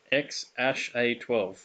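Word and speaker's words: X Æ A-12: deal and it's pronounced x ash a12 x-acto 12. i believe something like that x actually i mean it's just x the letter x um and then the a e is pronounced ash and then a 12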